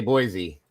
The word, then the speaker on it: Boise: Say Boise. Watch her flip out. Oh, don't. That is not a Z. There is no Z in the word boyisey.